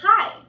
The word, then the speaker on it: high: hole hole right are like high right I don't say I I don't think I I think hi all right